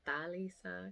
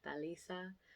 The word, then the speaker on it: Talisa: So I'm like, oh, my name's Talisa. Technically, you should pronounce it Talisa because I'm Puerto Rican, so it's Spanish kind of flow. Talisa.